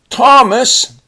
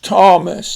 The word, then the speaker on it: Thomas: Next we have Thomas, and here the H is silent, but we spell it with a TH. Thomas.